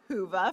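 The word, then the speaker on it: Whova: Be sure to download our annual conference app, Hoova, pronounced Hoova for those who are wondering, to facilitate your in-person experience as well as to take advantage of virtual sessions.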